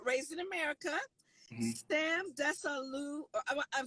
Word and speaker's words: Desalu: Sam Desalu.